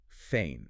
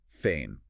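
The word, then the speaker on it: فين: Feain. Fain. That rhymes with rain. Pretty close, a bit more clipped. Feain.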